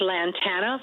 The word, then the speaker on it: Lantana: It's Lantana, Florida. Lantana.